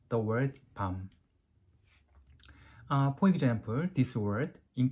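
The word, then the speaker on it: 밤: this means uh Chestnut then you have to pronounce these words are longer like Palm but when this means a night you have to say this shorter like Palm um actually uh uh with Korean we don't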